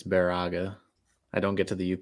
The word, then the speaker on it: Baraga: conditions likely hi Dylan someone corrected me it's Baraga I don't get to the up often but thank you yeah if we don't pronounce something correctly in the up or in